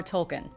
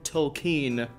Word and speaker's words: Tolkien: the Rings author j.r.r tolkien I think you mean tokine if have I been saying it wrong this whole time apparently so geez well